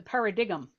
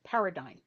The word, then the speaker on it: paradigm: Um but I was at a contest, I wasn't a judge where someone referred to the paradigm, which is actually pronounced paradigm.